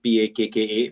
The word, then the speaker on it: Pakka: So we chose the name Pakka actually. It's spelled P-A-K-K-A, but it is pronounced Pakka, but basically means packaging with a soul.